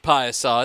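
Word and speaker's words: Piasa: of piusol um and it's pronounced Paisa it's p-i-a-s-a looks like Pisa Pizza Pizza this is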